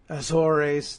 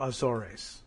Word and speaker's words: Azores: so all right uh consensus among well English speakers in England and English speakers here in the United States is that uh it's two syllables anyway oor or Azor and not a third syllable Azores okay okay we may